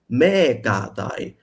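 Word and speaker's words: μηκᾶται: But in ancient Greek, the ox mukatai and the goat mekatai.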